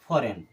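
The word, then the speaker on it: foreign: अब ज तो गीत तो यहां पर है ही नहीं जी खत्म हो गया क्योंकि जी के बाद में एन आ रहा है और जी के बाद ए आएगा तो हमेशा के लिए जी साइलेंट इसे हम पढ़ेंगे फॉरेन अब इसे क्या पढ़ेंगे फॉरेन अब चलिए देख लेते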